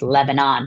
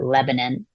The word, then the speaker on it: Lebanon: Pennsylvania was called Lebanon um often you know pronounced Lebanon but we pronounce it Lebanon and the we had a lot of cedar